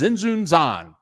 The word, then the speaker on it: Tzintzuntzan: And it ends up that the T is silent. It's Tzintzuntzan.